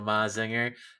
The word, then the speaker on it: Mazinger: Yeah, because it's Majin, so Mazinger.